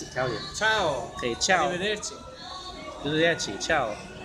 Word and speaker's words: ciao: Ciao.